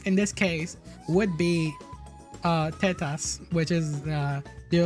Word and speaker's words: tetas: Titas.